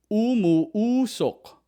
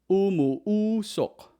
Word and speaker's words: umuusok: Used in a Tagalog word, umuusok. Umuusok. Umuusok. In English, it means it's putting out smoke. It's putting out smoke. It's putting out smoke. Or it's producing smoke. So for example, umuusok ang niluluto ko.